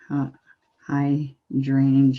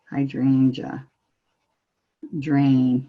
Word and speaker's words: hydrangea: little hydrangeas we're doing hi drainage a hydrangea drain yes I've just been taught that I'm saying it wrong so so there we